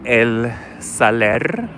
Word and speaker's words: El Saler: The shopping mall is called El Saler. Make sure you roll your R's, darling. Roll your R's. Not your arse, but your R's.